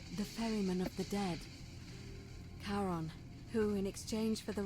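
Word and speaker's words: Charon: is a little off the name you heard wasn't Karen it was c h a r o n the Fairman of the Dead Kon who in exchange for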